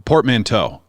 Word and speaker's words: portmanteau: It is a I don't know how to pronounce this word. A portmanteau? You know what I'm talking about? A portmanteau.